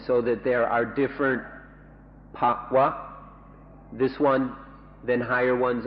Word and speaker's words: bhava: ภาวะนะอีกคำหนึ่งเดี๋ยวนี้ภาวะภาวะภาวะ Pa-wa. If I make it pa-wa, that's a different word with a different meaning. So I'll try to say it properly.